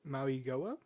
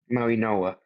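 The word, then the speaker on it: Mauigoa: Francis Maui Maui Goia? Maui Noa. The G is actually sounded Yeah, it's like an N instead of a G.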